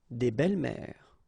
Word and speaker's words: des belles-mères: Une belle-mère, des belles-mères. Same rule here, S and S, but you don't pronounce it.